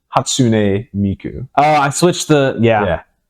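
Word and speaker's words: Hatsune Miku: nuts it was very it was just pronunciation you had all the right syllables in the right order so it's hatsun Miku oh I switched the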